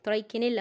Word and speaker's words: Trichinella: سبيرال بورك ممكن نقول ترايك ترايك اللي هو ترايك نيلا في النطق بورك بورك يعني حاول تظبطها بقى ترايك